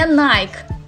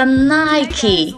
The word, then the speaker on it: Nike: бренду очень интересно как вы прочитаете это не nike это nike вот лайза хвастаться своими новыми apple watch выманила булочки глаз и смотрим на пример модели nike nike они убили друг друга за nike а теперь 6 бренд ralph lauren как только